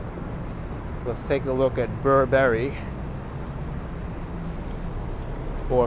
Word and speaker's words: Burberry: Let's take a look at Burberry. Or if you want to pronounce it properly, it's Burberry.